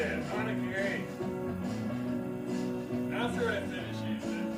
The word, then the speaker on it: onigiri: Onigiri, that's how you say it. Onigiri.